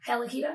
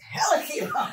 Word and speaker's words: Hella Keto: Hella Keto. Yeah, you don't be like Hella Keto.